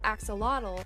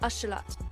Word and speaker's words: axolotl: as um the sound the word most english speakers call axolotl is actually pronounced ashalat i knew that i